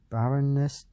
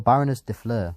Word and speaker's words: Baroness de Fleur: defleur once per turn barrenness or baroness de fleur that's how you say it once per turn